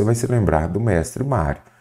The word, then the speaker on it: Mário: Quando aparecerem essas paroxítonas, você vai se lembrar do mestre Mário. É mestre Mário, não é Mario.